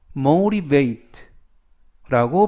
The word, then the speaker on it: motivate: 뜻이 되겠습니다 motivate motivate motivate라고 발음하시면 되겠고요 이때 유의하실 점은 가운데 있는 알파벳 t 연음에 의해서 발음이 아니라 르 르 그래서 mate라고 발음하시면 더 좋겠습니다 품사는 동사 뜻은 동기를